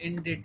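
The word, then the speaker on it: indite: यहाँ देखें इनडिट लफ्ज़ को पढ़ा जाता है, प्रोनाउंसिएशन इनडिट है।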